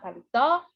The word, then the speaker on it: paletó: Vamos chamar paletó? Chama o paletó como se estivesse chamando uma pessoa. Paletó! Qual foi a sílaba mais intensa? Foi o tó.